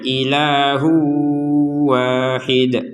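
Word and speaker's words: إِلَٰهٌ وَاحِدٌ: Jadi tanwinnya dimasukkan ke wawu sehingga nanti keterbacanya ilahu wahid.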